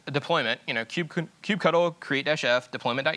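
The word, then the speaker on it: kubectl: submit this good old cube cuddle I'm on Team Q cuddle by the way for pronunciation there's differing opinions I believe cube cuddles the best one so we use Q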